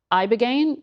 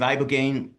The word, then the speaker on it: ibogaine: Specifically, they were touting this one drug, Ibogaine, I believe is how you say it.